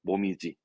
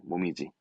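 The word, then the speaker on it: 紅葉: 모미지. 이 모미지 발음 특별 발음입니다. 모미지.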